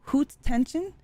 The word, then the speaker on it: Haute tension: I uh was reading uh several interviews it's pronounced hoot hoot tension yeah that's weird um anyways I have a